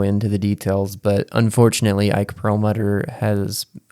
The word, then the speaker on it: Perlmutter: Now, Marvel Entertainment CEO, I'm probably going to butcher this name, Ike Perlmutter, is that how you say it? Yes, Ike Perlmutter, who is a very controversial figure.